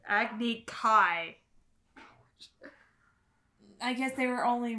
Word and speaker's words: Agni Kai: Then Prince Zuko was sentenced to an Agni Key duel. Nope, I'm out. Nope. Agni what? Agni Key. They missed the A. It's Agni Kai.